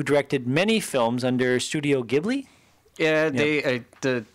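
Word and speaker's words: Ghibli: gibli yeah they the technically it's gibl is when you call the wind but uh Japanese or jibli is wind J yeah but uh the Japanese don't have a hard G according to Wikipedia hibl so studio hibl um which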